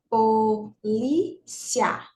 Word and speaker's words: polícia: tenha três sílabas ó polícia três sílabas mas a sílaba tônica é essa né ó polí é essa é a penúltima então é